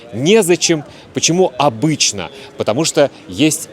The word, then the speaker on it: незачем: Ударение обычно падает на е. Некогда, негде, не с кем, незачем.